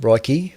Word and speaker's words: Reich: okay very briefly uh Marcia Ro I think that's how you pronounce that surname Roy re receives $500,000 $500,000